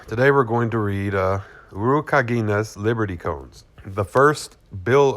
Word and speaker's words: Urukagina: The pronunciation of his name is Urukagina. Kagina. I think it's Kagina, or maybe Kagina.